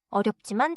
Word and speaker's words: 어렵지만: 어렵지만 재미있어요. 어렵지만 재미있어요. 좋아요. One small sound note. 어렵지만 is pronounced with smooth transition. Not as two separate English style words.